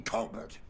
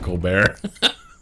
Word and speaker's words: Colbert: You are going to regret messing with Eugene Colbert. I swear it's Colbert, not Colar.